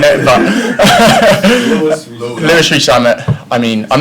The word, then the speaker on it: Rees-Zammit: I've heard many different ways of saying it, but Rees-Zammit.